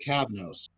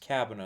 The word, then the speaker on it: Cabanos: I'm sorry if I butchered her name. One sec. She was You're Chiaki fine. and Danganronpa. Christine Marie Cabnos. Yes, Cabanos.